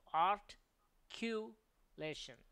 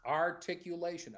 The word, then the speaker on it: articulation: like this comes up I was always making the mistake of art cation and that's not the right way to pronounce that's incorrect so it's articulation articulation you say articulation there